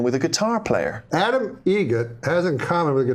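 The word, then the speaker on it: Eget: How do you say the name? Adam Egret. Egret. Spelt differently. Like the bird. That's Egret.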